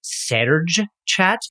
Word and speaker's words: Serge chat: is better it's pronounced Serge chat it's a French thing so we just imagined ourselves trying to get people to say it Serge chat and we decided we